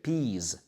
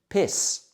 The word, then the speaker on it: peas: Čiže čiže peas. OK. Pozor, peas. A toto nás opäť nabáda k tomu alebo nesprávne vyslovujeme pis. Pis, čiže opäť krátke, nie dlhé pe, ale pi.